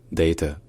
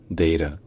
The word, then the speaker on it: data: C'est de dire data ou bien data. Voilà, data ou data avec une diphtongue dans la première syllabe.